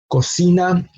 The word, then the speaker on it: cocina: in education and it's an example of a word that has the letter C twice and there it produces the two different sounds that the letter C has no cocina the initial syllable code has the letter C producing the K sound the second syllable C has the letter C produce the S sound no so that's that's